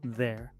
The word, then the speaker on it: they're: Luego se pronuncia la E. Pero en este caso la I es muda y esto sigue una